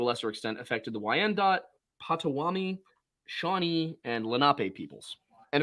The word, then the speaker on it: Potawatomi: So it's actually pronounced Potawatomi.